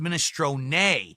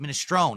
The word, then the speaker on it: minestrone: That's the Italian pronunciation, minestrone. Not minestrone, it's minestrone. But in American or English, you pronounce it minestrone. It's a silent E, just like provolone.